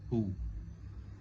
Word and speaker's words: who: ازاي هو في حرف W؟ W مش بينطق، بنطق who.